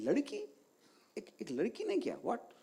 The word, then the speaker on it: Ladki: So it's not like ladki, it's ladki.